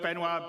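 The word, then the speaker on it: Benoît: And without me waffling on, I'd like to bring CIG's CTO, Benoit Bézageur.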